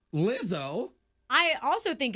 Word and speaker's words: Lizzo: Lizzo.